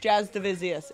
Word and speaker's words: Jasudavicius: canada they're like okay your last name is pronounced jazz davisius in english it's jazz division so my grandpa's